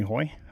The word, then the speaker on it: Haughy: a team name something my last name is hoy but it's pronounced h-a-u-g or spelled h-e-u-g-h-y which is really